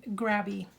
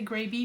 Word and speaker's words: Grabie: scrapbooking Supply boxes from grabby I always want to say gravy because phonetically there's only one B but it is really pronounced gravy they reached out to